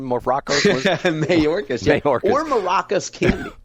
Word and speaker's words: Mayorkas: I get his name wrong. Maracas Candy wasn't his name? Maracas? Mayorkas.